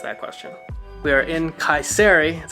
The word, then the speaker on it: Kayseri: We are in Kayseri, that's how we learn how to pronounce it.